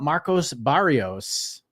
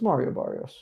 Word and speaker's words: Mario Barrios: Let's learn about Marcos Barrios. Did I put his name wrong? It's is it Mario? I think it's okay. Mario. Is he both? No, it's Mario Barrios.